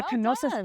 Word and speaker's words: Knossos: beautiful Greek Isles and we are in kosis yes right the kosis palace did I say that right yeah you said it right I was like hypnosis